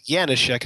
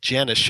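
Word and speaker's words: Janecek: I guess last name janish right which is yanek not Janes a l americ pronunciation yeah it's like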